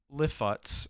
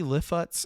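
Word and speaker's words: Lifshitz: So JD Lifutz, I believe is how his name is pronounced, and Drew Hancock were actually able to link up through a mutual friend.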